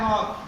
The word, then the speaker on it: walk: लेते हो WALK होता है, एन साइलेंट होता है वॉक, ठीक।